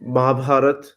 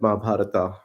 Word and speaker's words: Mahabharata: introduce what is Mahabharat I mean Mahabharat is the is the Hindi or the the native pronunciation of the Epic um You can call it Mahabharata which is more like an English pronunciation so Mahabharat or Mahabharata anything is fine it's an ancient Indian